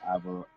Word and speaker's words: Alvarado: Man, that new guy they got, Jose Alvarado. How you pronounce his name? Alvarado. Jose Alvarado.